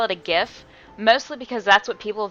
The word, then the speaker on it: GIF: guy who invented it the guy who actually invented the file type said that it's pronounced GIF like the peanut butter so uh so officially